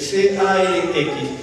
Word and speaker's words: calx: La palabra calx no puede confundir, C-A-L-X, que significa talón. Pero también significa guijarro, pero se escriben igual, en definitiva, o parecido. Pero la pronunciación es calx.